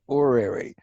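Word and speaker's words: horary: word or a notice I make a silent H I call it or Airy so that we don't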